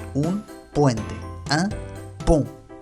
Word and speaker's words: pont: Otro caso es O más N, que es igual, que se pronuncia on. Muy nasal ese, muy nasal. On. On. Pareciera que el sonido sale de la nariz. On. En realidad resuena en la nariz. On. Por ejemplo, un pont.